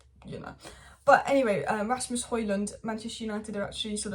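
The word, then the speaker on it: Højlund: surname it's pronounced Halen but a palette is pronounced hoyland which was really confusing me but I guess one's a Danish pronunciation and one's you know but anyway Rasmus hoyland Manchester United are actually sort of looking at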